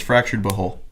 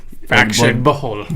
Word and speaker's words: Fractured But Whole: It's Fractured But Whole. Oh. Fractured But Whole. Like butthole. Fractured But Whole. Fractured But Whole. Yeah. Okay. I like the way he said it more. Butthole. Fractured But Whole.